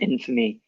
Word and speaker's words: infamy: Careful, a lot of students want to pronounce it, and it's very natural, infamous, but we actually close that A for this one. So infamous and infamy.